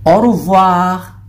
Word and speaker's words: au revoir: So, au revoir. Yun ang pagbigkas dyan.